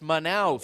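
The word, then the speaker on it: Manaus: let me just say I've heard that word pronounced a million ways this week by the international media it is manous it is manous stadium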